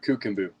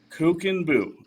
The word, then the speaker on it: Kuchenbuch: nation get it right so what is the pronunciation uh cooken bu kookin Buu and I wanted to bring this up because